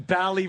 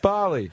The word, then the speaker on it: Bali: They're going bally bombing. Ha ha. Yeah, and it's pronounced Bali. Like, that's Bali.